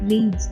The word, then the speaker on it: read: Verb 3 form of reads is read. There won't be any change in the spelling but the pronunciation read.